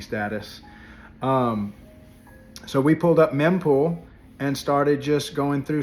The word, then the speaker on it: mempool: Today, someone came on the show and explained on the meme pools, I mispronounced that and was corrected in the show, showing my newbie status. So we pulled up mempool and started just going